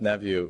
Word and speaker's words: Neveu: And Beth Neveu, I've said her name wrong all week, so I'll say it right this time. Beth Neveu was so instrumental in doing that.